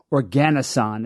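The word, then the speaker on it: oganesson: It's not just it's just not heavy enough to create an element above the current heaviest element which is 118 organosan is one way to pronounce it.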